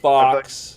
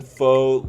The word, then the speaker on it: faux: And then it's like That's actually pronounced faux, though. It's like, Yeah. I thought you were just saying fake news, like, just in general. No. Faux, as in fox, as in FAUX, as in faux.